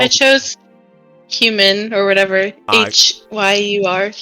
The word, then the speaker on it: Hyur: H-Y-U-R. Yeah, Hyur, I believe is how you say that.